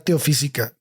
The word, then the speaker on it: Teosófica: Pues ella es la cofundadora de la Sociedad Teosófica, tiene acento en la O.